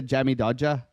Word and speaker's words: Jammy Dodger: to try a a Jammy doer okay this is a Jammy DOA you got to say it like that too this is a a